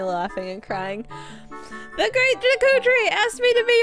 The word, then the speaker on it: Deku: Navi leaves the Deku Tree, which I'm pronouncing it Deku, by the way, as as an olive branch to the fans, because as a kid, I always pronounced it Deku, the Great Deku, like the Great Deku Tree. That's what I always said. And then after I learned that people pronounce it differently, I've started pronouncing it differently.